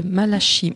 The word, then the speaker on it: Malachi: pour un ouvrage de malashi Martin je prononce à la française intitulé La Maison